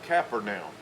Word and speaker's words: Capernaum: When we get to Capernaum, and we call it Capernaum, they will call it Capernaum. Capernaum. And because we've westernized a lot of words, and the Hebrew or the Israeli pronunciation is quite a bit different.